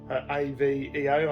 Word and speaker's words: Aveo: So in some other markets this was also known as the Chevrolet Aveo, A-V-E-O, I'm pretty sure that's how you pronounce it, Aveo.